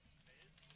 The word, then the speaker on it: Maves: Maze? That's how Coach says. And her high school coach last year told me that too. Steph Maze? Like Willie Mays?